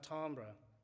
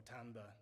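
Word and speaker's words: timbre: think of this as a kind of tambra or tambor depending on your pronunciation synthesis right and in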